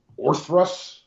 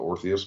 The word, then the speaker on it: Orthrus: We'll have a brand new World War II premium, the Orthrus. I keep calling it the Orpheus, but maybe I'm saying it wrong.